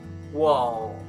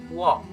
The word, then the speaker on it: walk: most people will say walk or walk it's wrong you must pronounce it without l the l is silent so repeat after me walk walk good moving on